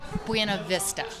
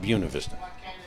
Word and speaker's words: Buena Vista: it the right thing what is the right thing buav Vista not buav Vista sure coming up generations